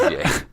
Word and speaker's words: Ye: It's yay.